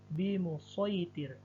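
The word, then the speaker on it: بِمُصَيْطِرٍ: Kemudian di contoh berikutnya di surah Al-Ghasyiyah ayat 22, kata bimusaytir tertulis shad dan dibaca shad, menjadi bimusaytir.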